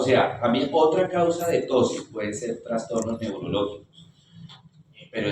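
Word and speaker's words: ptosis: en los pacientes de tosis es eh tosis se escribe peteo tosis tosis palpebral se llama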